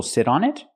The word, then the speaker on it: sit on it: Do people sit on it? That's right, people sit on it. We hear the pronunciation. The T in sit changes to a fast D because it's between vowels. Sit on it.